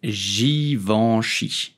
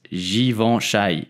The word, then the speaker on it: Givenchy: simply say Givenchy g i in French will be pronounced Ji and of course and at the end c h y will be pronounced sheesh okay so you will simply pronounce please do not pronounce given Shai it's totally wrong did